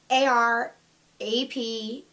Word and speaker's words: Arapaima: It's like Arapamia? I don't know. It's a fish. I know it was based off a fish. It's Arapaima. I will put it in